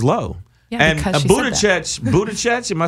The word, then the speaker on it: Buttigieg: Yeah, and because she Buttigieg, am I saying it right? Buttigieg. Jig. No, you've literally never said it correctly. I just want you to know, not one time. Pete Buttigieg.